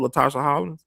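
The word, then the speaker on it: Latasha Harlins: Latasha Holland.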